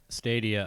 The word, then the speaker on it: Stadia: Stadia, I believe, is the correct pronunciation.